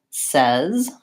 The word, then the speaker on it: says: But sometimes it can be tricky and it's spelled with an A, like in any, or says. Or it can also be spelled with AI, like in again.